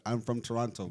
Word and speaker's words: Toronto: I'm from Toronto bro this guy always pronounced the second T bro you always bro I hate hate when you pronounce a second T this guy I'm from Toronto but like that is how it's spelled but like no one says it like that but you are from